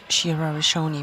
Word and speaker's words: Shira Rishoni: Didn't pronounce it in the right way. Not Rishad, Shira Rishoni, we have just seen in the under 48 kilo category.